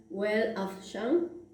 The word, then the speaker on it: Weltanschauung: en alemán pues es algo así, disculpen la pronunciación, Weltanschauung, que muchos la prefieren porque consideran que expresa mejor y abarca mejor justamente el concepto o la definición de cosmovisión, ¿no?